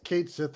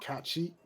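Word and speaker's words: Cait Sìth: pass one it's because Kate Sith is supposed to be what cat sheet is how it's supposed to be pronounced in Scotland and that's the name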